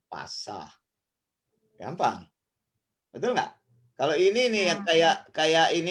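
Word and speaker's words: πασα: Ini kan gampang, ini kan P, terus ini alfa. Kemudian ini ada sigma, ini S. Nih, kalau begini S. Ini alfa A. Jadi kan bacanya PASA, jadi pasah.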